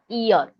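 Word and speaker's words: Ihr: So V east Nama that Ir is pronounced as ear right.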